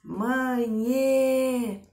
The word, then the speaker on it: manhê: Aí a gente diz manhê. Qual é o forte? O nhê.